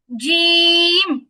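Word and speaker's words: ج: জিহিবার মাঝখান উপরে তালুর সাথে লাগবে, জিম জিম।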